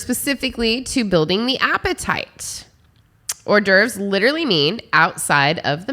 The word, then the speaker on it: hors d'oeuvres: so horny ovary uh is the french name for appetizers it is spelled h o r s d apostrophe o e u v r e or derf appetizer refers